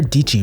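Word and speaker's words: Dietschy: Whether it's Sarah Dichi rhymes with peachy, Ali Abdal, or your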